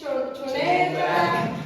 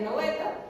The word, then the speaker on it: Snøhetta: tengo que decir que fue todo un desafío aprender a pronunciar porque eh estábamos en tres como es choneta choneta. Entonces, bueno, antes de de eso, ya sabemos cómo se pronuncia, es noveta.